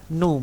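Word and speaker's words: ν: ini rasio poisson itu dinamakan ini NU bacanya Ya ini sama-sama huruf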